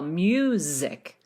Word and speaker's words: music: If you want to get really fancy, that S is pronounced as a Z as well. Music, music.